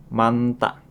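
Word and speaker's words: 많다: Double berikutnya ada kata nien dan hien dan hiemu dengan huruf konsonan maka yang akan dibaca adalah ni-nya saja. Hit-nya kita abaikan. Contoh kosakata pertama ada manta.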